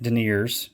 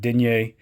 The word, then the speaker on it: denier: French nine denier um some people are are pronouncing it daers over here in the States but I think the actual I'm probably not saying exactly right but denier um nine a denomination